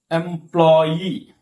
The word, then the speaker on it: employee: Yeah, word end in EE, EER, ETTE, QUE, AIR. Stress fall on last syllable. Okay. So look at this verse. I'll give example. Look at this verse. Employee.